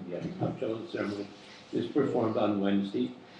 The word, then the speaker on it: Tavshilin: The Eruv, and we do pronounce Tavshilin. Yeah, Tavshilin ceremony is performed on Wednesday, and when Yom Tov begins on Thursday, it is performed on Thursday.